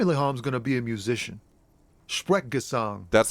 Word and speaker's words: Sprechgesang: It's Sprechgesang. Sprechgesang. That's how you say it, not Sprechgesang.